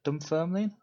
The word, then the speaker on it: Dunfermline: Is it Dunfermline? Is that right? that's right. No, Yeah. that's very good pronunciation actually.